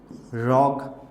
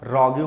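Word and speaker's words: rogue: और क्या पूछा जाता है, रॉग, ठीक है, रॉग पूछा जाता है, इसको आप रॉग्यू मत पढ़िएगा, दैट इज रॉग, ठीक है।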